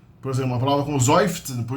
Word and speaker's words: seufzen: Então a gente tem a mania de pronunciar o S como S, não, o S é pronunciado como Z em alemão. E o Z é pronunciado como TS. Então seufzen.